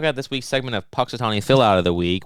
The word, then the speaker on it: Punxsutawney: the Seer of Cyrus in six weeks and Punxsutawney Phil but I can't pronounce I'm gonna talk about it still it's pux Atari Phil Punxsutawney Punxsutawney indeed you're the worst I've